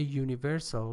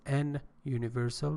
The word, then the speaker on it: universal: So it means that if a universal, pay attention, we have a universal, not an universal, because universal starts with a vowel, but you know, the letter is not that important, the sound is really important.